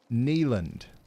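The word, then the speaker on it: Neyland: It's pronounced Neland. Neland Stadium.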